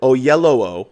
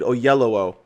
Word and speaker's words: Oyelowo: and uh david oley how do you pronounce his last name david oh yellow i believe that's how you actually pronounce his last name david oyelowo uh portrays martin luther